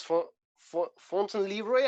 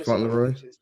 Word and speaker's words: Fauntleroy: Kind of like a modern James Fontaine Leroy. I've never known how to say his name. James Fauntleroy.